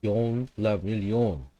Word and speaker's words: Guillaume le Million: If it doesn't rhyme, you're not pronouncing it right. Yon la million.